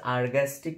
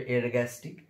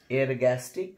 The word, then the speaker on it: ergastic: সেটা হচ্ছে বাংলায় লেখা আছে আরগ্যাস্টিক পদার্থ, অ্যাকচুয়ালি উচ্চারণ হবে এরগ্যাস্টিক। আমি ইংরেজিটা লিখে দিই ERGASTIC, এরগ্যাস্টিক সাবস্টেন্স বা এরগ্যাস্টিক পদার্থ, এরগ্যাস্টিক পদার্থ।